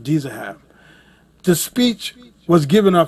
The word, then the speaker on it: Dizahab: Actually pronounced Dizahab.